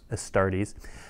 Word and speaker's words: Astartes: abaddon what are the astar how do you pronounce that astartes um tell us about them right so we